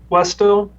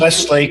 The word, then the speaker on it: Wesley: We have up next will be Westo, I believe is how it's pronounced. It's Wesley.